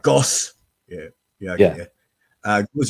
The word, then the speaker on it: Gaussian: how you say it gaussian that's how i prefer that that's how i pronounce it anyway it's like goss yeah yeah yeah uh